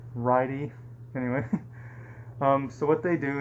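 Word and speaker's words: Ridey: the other is named righty I think I'm pronouncing that right it's RI d ey I've never heard of that name before but it's a righty anyway so what they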